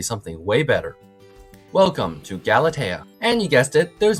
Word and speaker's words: Galatea: No, I did not say it's Galati. I said it's Galatea.